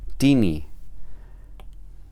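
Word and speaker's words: τίνι: la misma línea y se pronuncia tini. Y una cosa más que tenemos que observar es que todas las formas llevan tilde, llevan su acento en la primera sílaba.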